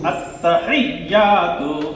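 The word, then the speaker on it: التحيات: আত্তাহিয়া, তারপরে কি তার উপরে হরকতের উচ্চারণ করেন তাড়াতাড়ি। তু তাপেস্তু আত্তাহিয়াতু, এইটা কি লামের নিচে, তারপরে তাও সেই লামে তাসদীদ দেওয়া কয়বার?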